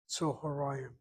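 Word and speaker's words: צהריים: So the word is unusual. It's an or sound, Tzor. It has a duality marker, Ayim. It has a short vowel, second to last syllable, accented. Tzoharayim.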